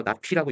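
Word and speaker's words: ~P: 저 물결 모양을 낫이라고 읽어서 낫피라고 있습니다.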